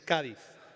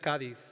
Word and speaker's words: Cádiz: Over the years, I've been asked what could possibly unite the United States with a city that is pronounced by locals with a lisp.